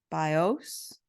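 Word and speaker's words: βίος: accent on the vowels so it's BIOS with the accent on the o and bios Accent on the eye and said the bow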